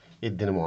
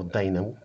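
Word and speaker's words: dynamo: في النهاية انا اقدر اقول ان الدينامو عندنا او الداينامو بنطق الصح بتاعه، فالداينامو بيحول الكاينتيك انرجي لالكتريك انرجي.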